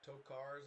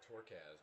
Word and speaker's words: Tokars: Moran back to pass, finds Tokars over the middle. I keep calling him Torkaz, but it's really Tokars or Tokars, I guess.